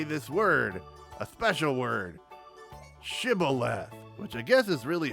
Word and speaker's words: Shibboleth: word, a special word, Shibboleth, which I guess is really hard to say because those Ephraimites pronounced it Sibboleth. And 40,000 Ephraimite Wilhelm Screebers who couldn't pronounce Shibboleth right died that day.